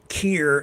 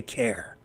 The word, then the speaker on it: Keir: I know I say it wrong. It just comes out that way. I say care because it's my Canusa accent, my Canada USA accent, having grown up so close to the American border.